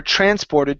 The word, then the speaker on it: transported: word transported right here the stress is at the very beginning okay so the illegal goods are transported to Europe the illegal goods are transported